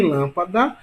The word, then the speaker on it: lâmpada: E em lâmpada, veja que a sílaba tônica é lã, sendo que a última sílaba é da, a penúltima é pá, e a antepenúltima é lã. Então, se a sílaba tônica é a antepenúltima, isso quer dizer que lâmpada é uma palavra proparoxítona.